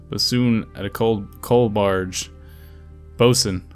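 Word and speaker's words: boatswain: Bosun. Haha, bosun. I remember how to pronounce sailor words.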